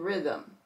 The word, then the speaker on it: rhythm: we come down here RH H is silent and we're going to hear the r in Rhino rhyme and r Rhythm SC c c is